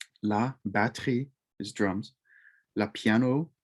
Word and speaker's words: piano: batre is drums la piano it's not piano it's not piano as in three syllables it's two syllables la pia no la piano lu saxophone